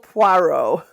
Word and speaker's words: Poirot: hercu hercule por perot you could say it correctly poirot yeah hercule point called hercules from this point just call him puero poro everyone calls him poro